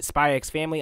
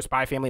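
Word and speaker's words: Spy × Family: This is the nigga from, this the principal from Spy X Family. I'm going to be, or Spy Family, my bad. I pronounced the X.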